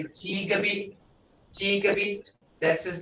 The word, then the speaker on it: Jigabi: And it's not pronounced Jacoby, it's Jigaby.